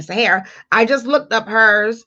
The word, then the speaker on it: Sahara: looked up um sarah's and that's how you pronounce my name sahara i just looked up